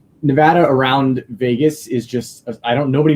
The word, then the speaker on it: Nevada: And first off, it's Nevada. Nevada. I'm sorry. I get it. I get it. We have weird pronunciations out here that somebody came from the West Coast and said it that way, we would know right away.